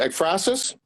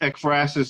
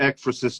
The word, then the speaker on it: Ekphrasis: if you want to get how do you pronounce it expressis that's how you pronounce this yeah it's expresses and i've heard it exorcist too so both ways the express is cd